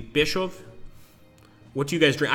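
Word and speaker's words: Pskov: I think the K is silent. It would be Peshov.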